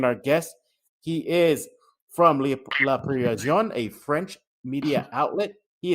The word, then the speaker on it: Le Parisien: Again, he is media Wemby correspondent for La Parisien. I cannot pronounce it. La Parisien.